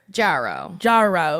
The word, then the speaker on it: Jarreau: It's Marcy Jarreau! Did I say your last name right? I'm always scared. I think so. Jarreau? Jarreau.